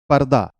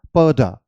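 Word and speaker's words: purdah: not sorry about that it's नॉट पर्दा इट्स पड per again D जो sound यहां पे अ करेगा उसकी ड साउंड होगी द नहीं होगे सो इट्स पर्डा ओके जो जनरली अपने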